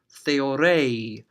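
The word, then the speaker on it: θεωρεῖ: person is watching something, they would stretch that pronunciation out to make it sound different from the command. So they would say, theore, theore, he, she, or it is watching, instead of theore, hey, you, watch this.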